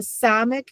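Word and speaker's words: Samekh: a hard g sound the samic just a regular s.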